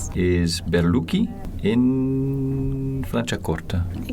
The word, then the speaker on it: Franciacorta: Is Berluki in Flanchakorta. Exactly. Ah, good pronunciation.